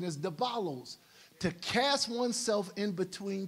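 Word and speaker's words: διάβολος: That's why the word devil in the Greek means, is the pronunciation is diabolos, to cast oneself in between two, to divide them.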